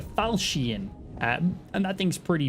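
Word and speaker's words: Falchion: is the Rog Belgian I think it's how you pronounce this not Falcon it's like the falcian um and that thing's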